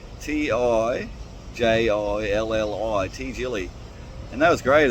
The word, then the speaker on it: Tijilli: Got my new accommodation there at Tijilli, T-I-J-J, no, butchered, T-I-J-I-L-L-I, Tijilli.